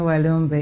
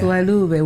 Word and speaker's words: Walube: Funny you call me Walumbe. It's Walube. We took out Walumbe. the M. Okay, you took out the M? Yeah. It sounds, when one is pronouncing it, that is how it's supposed to sound.